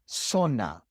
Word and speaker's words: zona: And the Z in the majority of the Spanish-speaking world is pronounced just like the S. The Z sound doesn't exist. Zona, 10, realizar.